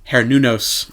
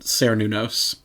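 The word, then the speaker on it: Cernunnos: the Celtic god of the hunt harunos or you could pronounce it cunos was so cool yeah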